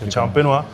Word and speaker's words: champenoise: se tiene que hacer con un método específico de elaboración que se llama método tradicional o método champenois que se escribe champenoise champenoa los subtítulos van a